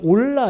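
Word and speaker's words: עֹלָה: 히브리말로 번제단 할 때 번제는 오라 또는 발음상 올라 이렇게 이제 발음하는데 올라간다 이런 뜻이에요 재밌죠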